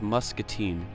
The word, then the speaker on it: Muscatine: the quiet town of Muscatine. And I have to say it right, Muscatine, not Muscatine, because otherwise my dad'll kill me.